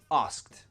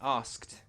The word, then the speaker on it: asked: Asked. Say it with me. Asked. Again, we pronounce that ed like a t.